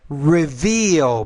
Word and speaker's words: reveal: Reveal. Pronounce the V.